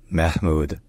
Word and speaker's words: Mahmoud: controversial statements and policies in Persian his name is pronounced Mahmud mm mahm all right